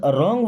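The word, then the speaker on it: wrong: अब इस रॉन्ग word में डब्लू साइलेंट है, क्योंकि आर के पहले कभी भी डब्लू है तो साइलेंट है, उसको नहीं पढ़ेंगे।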